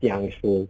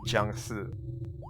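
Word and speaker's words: 僵尸: Yeah, in Mandarin it's pronounced Jiang-shi. Jiang-shi.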